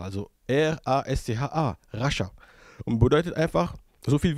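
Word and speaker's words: Rascha: Oder von wem spricht man hier? Die Bibel sagt zu uns, das Wort auf Hebräisch kommt von Rasha, also R-A-S-C-H-A, Rasha.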